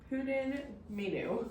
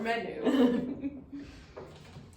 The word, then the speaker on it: Pwdin Mynwy: Okay, it's pronounced Pwdin menu. There we go. Or menu.